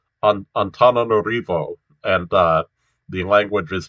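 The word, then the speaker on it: Antananarivo: i know for instance that that this is pronounced on antananorivo and uh the language is pronounced malagasy you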